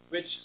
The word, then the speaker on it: which: Which support American citizens abroad. Help them when they need it the most. Help them when they need the most. Which foster. And you're pronouncing that WH like it's HW, right?